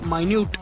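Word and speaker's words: minute: एन यू टी ई है तो वो एक माइन्यूट माइन्यूट बिल्क बिल्कुल वैसी ही स्पेलिंग है इसकी तो एक घंटे का एक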